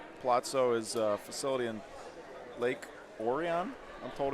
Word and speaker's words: Lake Orion: Palazzo is a facility in Lake Orion, I'm told it's pronounced, Michigan, just north of Detroit.